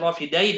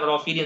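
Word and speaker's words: الرافدين: oke nah ini Bilad rofidain Ya itu bukan rofidin tapi rofidain maksudnya adalah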